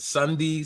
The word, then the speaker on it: Sunday: name correctly is it Sunday Sunday how do we say how do we pronounce it you guys you guys hit it right the first time so pronounce this day of the week which makes it really